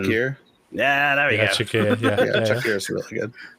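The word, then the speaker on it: Çakır: There's another one that I'm really bad at pronouncing. Shakir. Yeah, there we go. Shakir, yeah, Shakir is really good.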